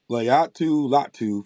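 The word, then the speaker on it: Laiatu Latu: Layatu Latu from UCLA.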